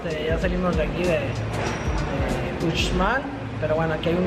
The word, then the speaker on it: Uxmal: Uxmal, con la X. La X lo pronunciamos como Uxmal.